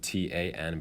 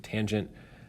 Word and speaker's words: tangent: the tangent which is abbreviated T an but again don't say tan just say tangent the tangent compares the